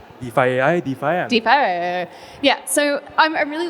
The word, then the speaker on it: DeFi: kind of asking how do we even pronounce defy defi defa like so we were kind of laughing yeah you got it you defi yeah so I'm I'm really looking forward to